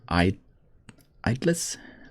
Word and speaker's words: idli: You can steam some idlis quickly. Actually, it's pronounced idlis.